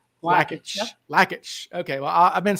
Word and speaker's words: Lakich: I've been saying it I've been saying Lage the whole time so yeah well I that's why I asked his brother because I wasn't sure how to pronounce lackage all right cool well